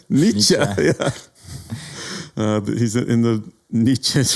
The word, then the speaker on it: Nietzsche: He's I never pronounced the name correctly. Nietzsche.